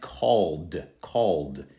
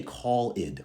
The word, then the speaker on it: called: Next, called. Now this one you don't say call-id, we say called, simply into the D sound.